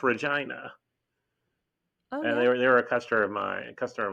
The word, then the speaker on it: Regina: spelled the same way Regina but it's it's pronounced Regina and they were a customer of mine customer